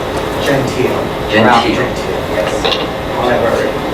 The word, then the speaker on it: Gentile: Could we start with the proper pronunciation of both your names? Gentile. Gentile. Yes. However, Gentile.